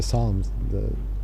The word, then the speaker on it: Psalms: The Psalms. The Psalms of, Yes. we call it the Psalms of Islam. Yes. That's right, the P's non pronounced.